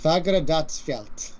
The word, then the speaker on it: Fagradalsfjall: With some coaching from Andy, it's Fagradalsfjall. Thank you. Okay, I tried. I really tried hard there. That's some really interesting pronunciations in there. It doesn't sound like it's spelled. It does not sound anything like it is spelled.